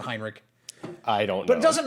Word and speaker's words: Heinrich: about heinrich schenker also he mispronounces heinrich the entire video he says henrik or something like that i'm like either he knows something i don't which is possible but i'm pretty sure everyone pronounces it heinrich i don't but it